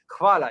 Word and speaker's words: hvala: Because it doesn't make any sense, especially because you would expect H to be silent, but it's not.